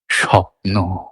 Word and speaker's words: স্বপ্ন: লেখা থাকে দন্তস বয়ে কিন্তু আমরা উচ্চারণ দন্তসই করছি শুধু বা দন্তসও করছি না তালবস করছি স্বপ্ন কারণ এটাই স্বাভাবিক মান্য উচ্চারণ তাহলে দুটো সিলেবেল একটা